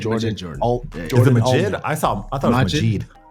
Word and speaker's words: Majid: That's produced by Madrid Jordan, but Jordan, not the Madrid guy. Jordan. Majid. Jordan. Is it Majid?